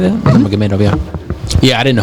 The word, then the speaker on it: Nurmagomedov: Nurmagomedov. Is that how you say that? Nurmagomedov, yeah.